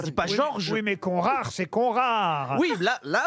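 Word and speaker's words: Conrart: mais non mais il me dit j'ai mal prononcé ça se dit Georg le prénom ça dit pas George oui mais conrar c'est conrar oui là là j'aire pronciation VO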